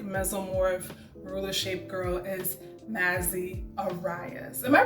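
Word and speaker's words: Massy: ruler shape girl is Mazzy Arias. Am I pronouncing her name right? Is it Massey or Mazzy? I think it's Massey, yeah.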